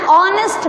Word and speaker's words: honest: Okay, he is an honest man. So here also we use an, because in honest H is silent, and which sound we are getting?